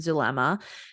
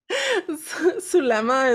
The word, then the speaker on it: Zulema: And Lori, can I just say, Zulema is a Hispanic name. It's like, I know it has a Z, but it's like pronounced Su. Zulema.